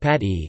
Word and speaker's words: Pathiri: Pathiri Malayalam, Pathiri pronounced pat-e, is a pancake made of rice flour.